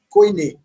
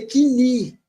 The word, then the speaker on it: Koiné: Os encontros de tongais são totalmente diferentes daquilo que nós conhecemos no padrão Koiné. Não, nem seria Koiné, a gente lê Kini, né? Kini.